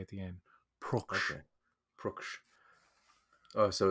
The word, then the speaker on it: Pruksch: interviews and he said it sounds like book, like it's got a ook sound with a pr and a k at the end. Pruksch.